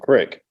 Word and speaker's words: creek: to explain to people from the city that there's two different pronunciations of creek and crick, and they're two different sizes of rivers.